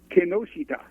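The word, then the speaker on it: Kinoshita: after you how is the correct way to pronounce his name so i know it it's kenoshita the other day at the store the dog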